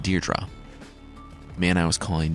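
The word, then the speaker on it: Deirdre: make another appearance like the woman I was calling dared Drew remember she died in The Chariot her name is actually pronounced deerra the man I was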